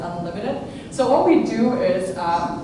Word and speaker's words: UNLTD: So if you see that picture up there, UNLTD, that's how you pronounce it, Unlimited.